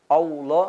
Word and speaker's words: Allah: Kemudian ayat yang kedua juga yang mesti kita perhatikan adalah huruf hamzah a. Allah. Jangan kita membaca o. Allah seperti keseringan yang terjadi pada pengucapan lafaz Allah seperti itu. Harusnya dibaca adalah a.